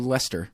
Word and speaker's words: Leominster: they're read no no we live right next to Lester Lester that's it no that way at all Lester Leominster glossed or